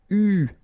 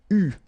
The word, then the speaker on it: eu: And this is pronounced, so it's an exception because normally you should pronounce it differently, but, so it's an exception, it is pronounced U, okay? U, that's the way you should pronounce it.